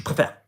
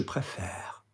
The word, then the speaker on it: préfère: So for example, préfère, you'll now notice that the last syllable, if we've said I prefer, je préfère, is a little bit longer. It's not je préfère, it's je préfère.